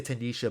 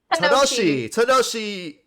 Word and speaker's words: Tanoshi: I keep trying to say Tanisha, but Tanoshi.